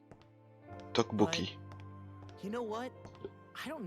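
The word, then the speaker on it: 떡볶이: Teokbokki. Comment tu prononces le double T? Yeah. Maybe. Teokbokki. Effort 35 might know Ou je the fais answer. Teokbokki? Ça se prononce Tokbokki.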